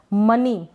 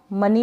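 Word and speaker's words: money: और मनी, मनी को हम मनी बोलेंगे, मोनी ना पढ़ें इसको, यानी जो प्रैक्टिस नहीं करेगा वो इसको मोनी ही बोलेगा, तो मनी मतलब धन, संपत्ति या पैसा।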